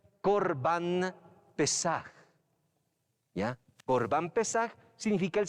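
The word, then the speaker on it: פסח: Y se pronuncia Pesaj, ¿ya?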